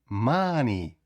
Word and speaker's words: money: є таке золоте правило якщо в нас літера о стоїть перед н то вона вимовляється як звук а M ма АА не